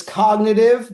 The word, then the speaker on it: CognAItive: So it's cognitive, but it is spelled cognit AI tip.